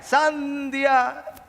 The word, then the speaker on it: sandía: Iba por ahí y decía, sandia. Bueno, porque a veces, para decirlo bien, es con el acento en la A, en la primera.